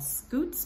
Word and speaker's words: scutes: You can also remember that the belly scales are called scutes because they're cute, and cute rhymes with scoot, and look how cute he is.